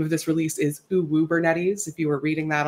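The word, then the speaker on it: Uwubernetes: release webinar the name of this release is uu bernes if you were reading that online and wondering how to pronounce it it is O bernes uh my name is I was the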